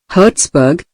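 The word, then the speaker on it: Herzberg: Frederick Herzburg, Herzburg, pronunciation, Herzburg, one of the great behavioral scientists, concurred.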